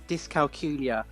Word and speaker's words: dyscalculia: first point actually is dyscalculia we're pronounced to rhyme with julia ah okay and um